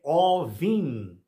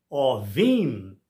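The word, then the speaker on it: עורבים: Tratando-se de corvos, a gente diz Ovim, mas se for comerciante, ou fiador, ou árabes, não sei, ela é Orhavim.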